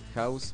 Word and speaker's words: Haus: En la página de House Arts, es House, pero como en alemán, H-A-U-S, como se escribe, uh-huh.